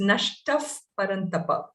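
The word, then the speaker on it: नष्टः परन्तप: dots whenever you have the power following a visarga you use the fur sound so it is nashtaf paranthapa just i wanted to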